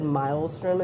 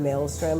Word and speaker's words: Maelstrom: all right every time he said milestone instead of Maelstrom I was so annoyed